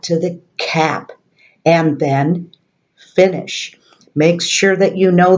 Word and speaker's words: Fine: that you know that that's an italian word and in music it's not pronounced fine how are you today I am fine it's pronounced bene fini in Italian this is the whole